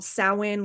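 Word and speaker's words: Samhain: Los Angeles area his company is called Sawan lenses spelled like the spelled like the holiday um and he did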